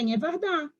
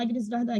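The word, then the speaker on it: Agnès Varda: A Inha Vardá. A gente fala Agnes Varda, que é pronunciar Inha Vardá, mas...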